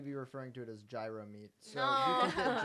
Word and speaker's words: gyro: Well, yeah, you're saying it wrong. Say it with the G.